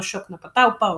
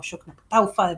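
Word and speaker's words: Yoknapatawpha: Recuerden, el gran referente de esto es William Faulkner, quien había creado ese espacio llamado Yoknapataupa o Yoknapataufa, depende de la forma en la que encuentren que se pronuncia, que es todos los pueblos del sur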